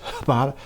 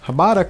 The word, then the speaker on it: Hbada: Is the H silent? Is it Bada? Is it Hbada? There's no A though, so is it just Hbada? Is it just me?